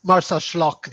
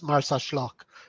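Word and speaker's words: Marsaxlokk: of yeah it's it's martha schlock the x in maltese is pronounced as sh so it's martha schlock this the merchant market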